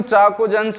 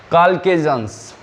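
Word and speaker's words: chalcogens: वैसे तो हम इसको चाकोजेंस बोलते हैं, लेकिन एक्चुअल में ये होता, इसका प्रोनाउंसिएशन होता है काल्केजेंस, ठीक है।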